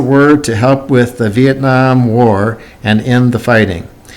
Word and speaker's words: Vietnam: V, this I, has an E sound, and this E has a short E sound. So that's what makes this word a little bit unusual. Viet, and this looks like Nam. Some people have pronounced it Vietnam. Vietnam is the correct pronunciation, I believe.